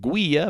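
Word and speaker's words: guía: Then guia, which means guide, and that is not guia, but guia, so the U is silent.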